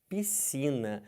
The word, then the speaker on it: piscina: fala isso aqui Gente esse SC piscina não podem falar piscina tá errado entendeu você vai se afogar se você toma banho numa piscina você toma banho de piscina você não fala que a pessoa nasceu você fala que a pessoa nasceu ele nasceu ali ah mas tem o s tem o C eu sei isso aqui SC eles não podem ser pronunciados numa palavra que depois